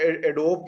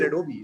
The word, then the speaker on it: Adobe: Graduate आता है वो एडोब कह रहा होता है, the word is adobe, so you just don't even know how to pronounce it correctly, let do alone you उस पे काम think करें.